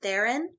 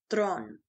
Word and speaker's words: Theron: she goes by charlize theron but the way she pronounces it in afrikaans is throne she learned how to